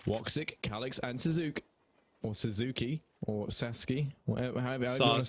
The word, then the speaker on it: Sasuke: That's going to put it into a 3-on-4 now, and Woxic, Calix, and Suzuki, or Sasuke, however you want to say it. Sasuke.